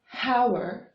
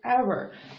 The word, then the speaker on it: hour: for example the word our it has it starts really consonant letter H but it has a brevis unretouched it starts with a vowel sound our we don't say Howard we say our that is why we